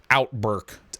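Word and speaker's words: OUTBRK: a game called outbreak it's spelled o-u-t-b-r-k so that way you only need to know two vowels out burke outbreak it's a storm-chasing game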